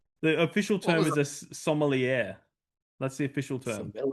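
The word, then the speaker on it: sommelier: Your main your main character is a somier. A wine taster. A wine taster. Yeah. What did you call him? The official term is a somier. That's the official term. Silier. Somier.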